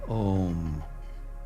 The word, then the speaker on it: om: And then I like to chant that ancient beautiful Sanskrit word pronounced om which is represents the creative activity of spirit in the world in the universe.